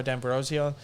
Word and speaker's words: D'Ambrosio: hines probably not much of a tackler massimo d'ambrosio short short sample size but not m knew any tackles that was my other feedback from last week you guys kept saying d ambrosio come on your heart's italian dambrosio it's just